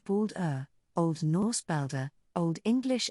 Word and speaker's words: Baldur: balda pronounced bould Old Norse balder Old